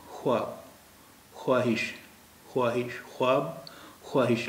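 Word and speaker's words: خواہش: ख्वाहिश, ख्वाहिश, ख्वाब, ख्वाहिश, लेकिन अब इनके उच्चारण में वाव का उच्चारण ये नहीं होता है, ये इसका उच्चारण होता है ख्वाब, ख्वाब नहीं होता है। ख्वाहिश इसका उच्चारण नहीं होता है, इसका उच्चारण होता है ख्वाहिश, यानी वाव का उच्चारण यहाँ पे गायब हो गया।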